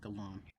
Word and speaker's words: Galan: Gan Galan I'm sorry Galan and I knew I was saying it wrong because the we had like a five minute conversation about how this G sounds like a gallon of milk but uh Galant we